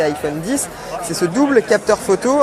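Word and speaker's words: iPhone X: autre nouveauté de cet iphone icsa prononcent et iphone 10 c'est ce double capteur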